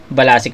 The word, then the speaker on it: BLSCK: Si B L S C. Pronunciation niya doon balasic.